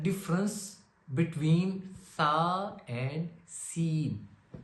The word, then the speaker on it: ث: So let's get the correct difference between sa and seen. SA is pronounced softly while on the other hand seen is pronounced with a sharper voice like seen a whistle